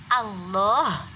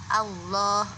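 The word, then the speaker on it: الله: berbunyi dengan tidak tepat seperti ucapan Allah yang seharusnya diucapkan seperti itu itu diucapkan karena memang dia tidak menekan ujung lidah ke langit-langit atas dan tidak menekan suara dengan cukup kuat akan nanti hasilnya akan allohu allohu allohu itu karena tidak ditekan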